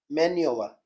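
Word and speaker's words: manoeuvre: Answer इसका चौथा, मैन्यूवर। मैन्यूवर क्या बोलेंगे इसे, मैन्यूवर। इसकी स्पेलिंग भी आती, MANOEUVR, मैन्यूवर।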